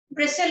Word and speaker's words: bristle: यहाँ पे T silent होता है, ब्रिस्टल नहीं होता, ब्रिसल होता है.